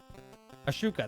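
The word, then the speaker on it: Ahsoka: maybe some live action Rebels with the new Ashnook. I think that's how you say her name. Ashush. Oh my god, I can't say it now. I had it last night. So maybe yeah. Ashuka, there you go.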